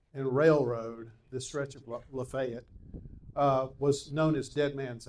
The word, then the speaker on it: Lafayette: At one time, there was a literal alley that branched off of Lafayette Street here, or Lafayette Street as the locals say.